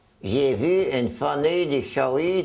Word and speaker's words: Chaoui: Le S n'est pas prononcé, comme vous avez déjà vu. C'est pas prononcé Chaouiz, c'est prononcé Chaoui.